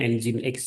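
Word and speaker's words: Nginx: servernya menggunakan Eng X ini bacanya Eng X ya bukan terus database server n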